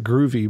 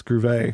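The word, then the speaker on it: Grewe: believe alright yeah it's it's almost like groovy but it's from what I understand it's groove a her groove a I know just grew but well they said it wrong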